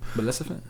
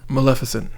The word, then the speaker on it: Maleficent: when mesan got invited why you say it like that what say it again malefant Maleficent Maleficent damn I'm tripping no you're